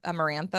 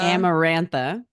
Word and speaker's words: Amarantha: Tamlin Tam H there's Nesta there's am amaran amarantha amarantha amarantha amarantha and I think those are the